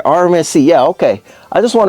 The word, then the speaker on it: RMSc: a hollison Swamp Fox there's a rmc's am I saying it right I feel like I'm not saying it right what is it the rmc's right yeah rmsc yeah okay I just